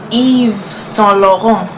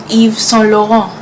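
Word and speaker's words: Yves Saint Laurent: end up with her then this one's a bit tricky Eve solo home Eve so long if solo if solo mom like Eve right like Adam and Eve if solo is so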